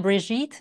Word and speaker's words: Brigitte: Vegan family kitchen I'm brigit it rhymes with beet and I'm delighted to